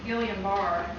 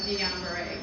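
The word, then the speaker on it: Guillain-Barré: mispronounce words such as saying Gillian bar instead of Dian Beret as an instructor she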